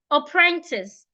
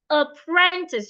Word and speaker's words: apprentice: How do I stress apprentice? Apprentice. You're stressing the second syllable.